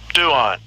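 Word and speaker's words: πτύον: Duon. Right. That's how you pronounce the word.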